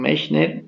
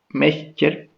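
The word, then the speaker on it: Miescher: Fue aislado por primera vez en 1868 por Friedrich Mechner, ¿ya? Algunos dicen Mechner, otros le dicen Mescher, ya, eso ya depende de la pronunciación que tengan ustedes, ¿ok?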